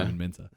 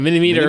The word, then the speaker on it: Minter: Simon Minter. Why can't Americans say my name? That's what I want to know. What? Mini-meter. Minter? Oh, They say Mini Meter, Mini Meister, Mini Minor, Mini Minor.